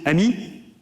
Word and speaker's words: AMI: So we call this AMI advanced machine intelligence. We pronounce it AMI which means friend in French.